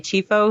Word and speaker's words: Chieffo: I think Mary Chieffo, who's playing Laurel, that's how you say her name.